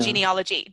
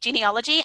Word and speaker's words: genealogy: genealogical yes genealogical genealogy so we don't really pronounce overly the a in genealogy genealogy and genealogy i'm getting